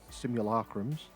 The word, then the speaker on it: simulacrum: going to put this onto all of the simulacrums and the Inquisition symbols. Yes, it's pronounced simulacrum for all you American folk that say it wrong.